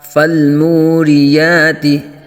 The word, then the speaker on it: فالموریات: کا۔ ضبحا والعادیات ضبحا فالموریات، واو ساکن سے پہلے پیش واو مدہ کا قاعدہ، ایک الف تک یعنی ایک سیکنڈ تک کھینچ کے پڑھیں گے۔ را کے نیچے زیر